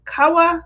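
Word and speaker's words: Kahwa: you coffee drinkers out there we got free koa and i hope i'm saying it right if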